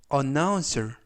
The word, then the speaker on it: announcer: 되겠습니다 이번 표현은 uncer announcer announcer 하시면 되겠고요 이때 강세는 가운데 있는 알파벳 5의 강세가 있습니다 품사는 명사 뜻은 아나운서라는